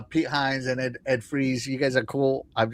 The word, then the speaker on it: Fries: It sounds It's spelled like fries, but sounds like freeze.